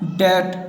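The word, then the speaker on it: debt: एक और है, अगर किसी वर्ड में बी टी के पहले आता है, यहाँ पर बी को टी के पहले लाना है तो बी साइलेंस हो जाएगा। यहाँ पर देख सकते हैं आप डेट, यहाँ पर बी साइलेंट है।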